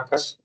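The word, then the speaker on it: arcus: Jadi ARC itu bacanya arkes. Arkes cos Y atau inverse dari cos Y. Kalau tangen itu inverse-nya adalah bisa tuliskan arkes tangen. Jadi ARC ini singkatan dari arkes ya. Arkes bacanya itu arkes, tangen, arkes tangen Y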